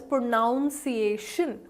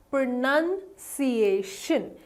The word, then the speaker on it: pronunciation: call it pronounce so we think that this word will be called as pronounced iation which is not right it is called as pronunciation pronunciation is the correct pronunciation of pronunciation that is right and